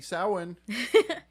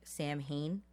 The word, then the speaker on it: Samhain: the name yeah happy samhain you've probably seen like sam hayne that's just how it's spelled but not how it's written ah okay and then